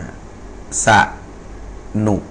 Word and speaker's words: สนุก: เอ่อ สะ หนุ นะ ครับ สนุก นะ สะ หนุก อัน นี้ เข้า ใจ นะ ครับ สนุก นะ ครับ อ่า สนุก นะ สะ เหมอ อ่า